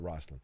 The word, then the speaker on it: Roseland: I know it's spelled Roseland, but everyone in Indianapolis said Roslyn.